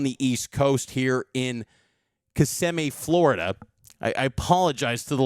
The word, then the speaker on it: Kissimmee: on the East Coast here in Kissimmee, Florida. I apologize to the locals saying it incorrectly yesterday, so my bad on that. Kissimmee, Florida, Cougs and Flyers in what should be a good game.